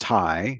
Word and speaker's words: Thai: word, this Thai word, just Thai, not Dai, but Thai, the cow, kin cow.